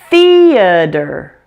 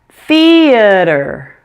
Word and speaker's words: theater: word has three syllables make sure that the first syllable is stressed say it louder and longer than the others reduce the a in